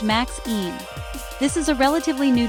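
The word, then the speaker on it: MXene: Then there's a super cool material called MXine, pronounced Max Een.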